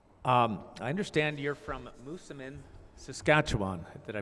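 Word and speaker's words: Moosomin: Um, I understand you're from Musammen, Saskatchewan. Did I pronounce that correctly? Musman.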